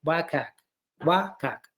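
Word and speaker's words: WCAG: content accessibility guidelines also known as it is pronounced like wak wak okay uh wak is being developed by uh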